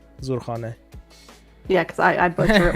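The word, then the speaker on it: Zurkhaneh: Pronounce it correctly. Zurkhane.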